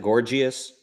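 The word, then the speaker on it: Gorgias: if it's true okay gorgeous was the guy's name mm-hmm that's how you pronounce it gorgeous gorgeous like gorgeous beautiful gorgeous gorgeous for now it's pronounced like gorgeous like the word I'm not all right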